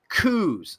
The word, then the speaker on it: coup: These are called coups, C-O-U-P. The P is silent.